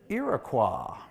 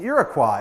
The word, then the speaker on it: Iroquois: and he pronounced it Iroquois. Anyone here take French? If you see a word in French that ends in Q-U-O-I-S, you would pronounce it Quoi. And that's what the French people call this, Iroquois.